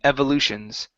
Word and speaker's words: evolutions: our last one here instead of uh Evolutions it's EV short e Evolutions Evolutions okay nice job